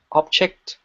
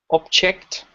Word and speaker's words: object: would you say and the first one has the stress on the first syllable and the second one